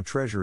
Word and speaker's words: treasure: is in this case the accent is in the first syllable corresponding to tress below are other ways to pronounce it now let's see how treasure is used in real